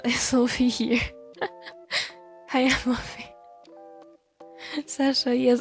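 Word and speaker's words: Sacha: Hi, I'm Sasha. Yes. Actually, it's spelled with like s a c h a. Yeah, he's called sashai in French.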